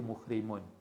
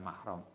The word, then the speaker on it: muhrim: Wah tajama lan pernah bekam sapa nabi wa halautai nabi ku muhrimun, orang yang ihram. Berarti saat ihram itu boleh bekam. Karena Nabi pernah muhrim ya bacanya, bukan mahram.